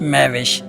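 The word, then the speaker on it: Mehwish: है मेहविश एमई एच डब्लू आई एस एच मे विश जिसके many है खूबसूरत चांद जैसी हसीनो जमील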